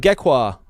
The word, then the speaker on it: Gekwa: Let's talk about Gekwa. Gekwa. Love it. How are you guys saying it? Love it. Am I saying it right? Gekwa. Gekwa. Gekwa. Like Aqua and Gekwa.